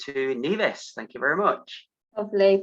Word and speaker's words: Nevis: um because a lot of people get their name wrong they think nivis and that's something that we see quite a lot of but the correct pronunciation is nevis some people have never heard of nevis and